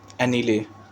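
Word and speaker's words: anile: Old women जो है अनिल okay. इसका प्रोनाउंसिएशन में मुझे लग रहा है दिक्कत हो रहा है। मैं एक बार एक बार चेक कर लेता हूं। ओके इसको हम लोग प्रोनाउंस करते हैं एनीले।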